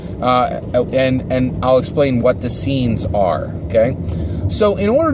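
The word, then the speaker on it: Seens: And it's called scenes. So the tactic is the scenes tactic. But scenes is spelled S-E-E-N-S.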